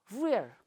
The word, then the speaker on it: rare: Last R we have to omit while pronouncing. Okay, rare, not rare. It's also acceptable, no matter, rare.